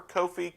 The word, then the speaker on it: Kofi: And, maybe we find out the correct pronunciation for Kofi Cockburn.